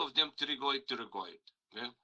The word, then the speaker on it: pterygoid: There are 2 of them pterygoid, pterygoid. Okay? Remember the B is silent.